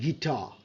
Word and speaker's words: guitar: And over here আপনি যদি দেখেন দেন u soundটা, u sound to silent, we say guest, guest, guest, and gas, u is silent. And guitar, guitar, right?